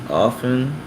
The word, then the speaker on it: often: not confusing for instance often can be pronounced with the T or it can be pronounced often which is how I